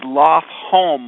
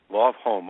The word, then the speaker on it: Lofholm: It's Lofholm, home like house. Lofholm.